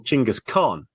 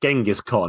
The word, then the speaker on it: Chingis Khan: And Temujin in 1206 takes the title Chingis Khan, which of course he's much more famous for, Genghis Khan, as it's yes, sometimes pronounced.